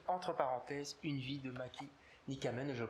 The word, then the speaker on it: Matti Nykänen: Voilà, le mauvais génie, entre parenthèses, une vie de Matti Nykänen, je le prononce très très mal. Donc, une dernière fois, on va bien le prononcer. Matti Nykänen.